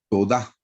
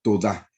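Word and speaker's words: תודה: Hermanos, en hebreo la palabra gratitud es todá, así es como se pronuncia en hebreo, todá.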